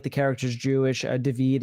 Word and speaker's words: Daveed: Daveed is like the pronunciation of David in Hebrew.